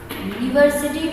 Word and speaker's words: university: Spell हो रहा है, यू का जो उच्चारण हो रहा है वो वाई यो यू, इस तरीके का उच्चारण हो रहा है.